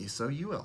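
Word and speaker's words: sol: The Latin word for sun is S-O-L, pronounced like S-O-U-L, soul.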